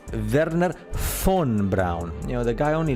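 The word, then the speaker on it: Wernher von Braun: the father of NASA Verner Fon Brown you must spell that correctly Verner F because the v in German in Germany in German sounds like an F so it's Verner fun Brown you know the guy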